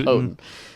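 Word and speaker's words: Houghton: Hotton um and that is how you pronounce it. I was at a concert when he said that's how you pronounce it. So, um it looks like Hen or something, but it's Hotton. So anyway, I I remember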